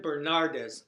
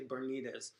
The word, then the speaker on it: Bernardes: is Javin B Javin bernardes I always want to say bernz Javin bernardes and he's got an